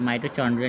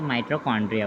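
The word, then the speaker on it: mitochondria: माइटोचॉन्ड्रिया नहीं होता पहली बात, तो माइटोकॉन्ड्रिया होता है।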